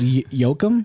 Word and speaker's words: Joachim: So, it's Yokum. Yokum. Yeah. Yeah. I thought I think it's Yokohim.